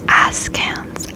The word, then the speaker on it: askance: It's A-S-K, so like ask, and then ants, A-N-C-E.